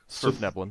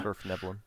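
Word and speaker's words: svirfneblin: How do you pronounce that name? Surfneblin. Nervium? Yeah. Surfneblin.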